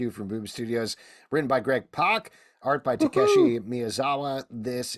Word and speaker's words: Pak: Yeah, just so you know, it's pronounced Pak.